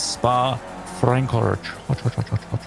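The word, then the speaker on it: Spa-Francorchamps: If you're not familiar with the pronunciation of the name of the track, it is Spa Francorchamps.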